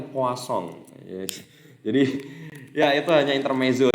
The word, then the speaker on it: Poisson: Atau poison itu bacanya ternyata poisson.